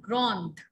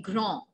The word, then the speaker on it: grand: is tall, I'll say il est grand, just grand. D will remain silent in the end. And if I want to say that she is tall, elle est grande, the sound in the end.